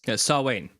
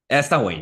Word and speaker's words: Samhain: time where Samhain, I'm not sure how to pronounce it, would take place. Samhain. Samhain, yeah, thanks.